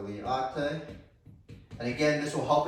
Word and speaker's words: LIATE: I pronounce it liate. So liate.